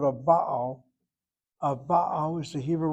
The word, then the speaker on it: Baal: A Baal, notice I'm hitting the first syllable. Short vowel open gets accented.